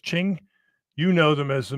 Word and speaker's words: Qing: of the Qing Dynasty Qing is pronounced Ching you know them as